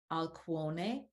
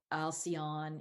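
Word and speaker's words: Alcyone: Maya Electra or sterope taogete or taugeta I know alcone and merope and this is like if you're gonna be coming from the perspective of how the Greeks pronounce them um now we might say taigeta alcion you know that type of thing so but I'm just trying to return us a little bit to the Greek sound of these names because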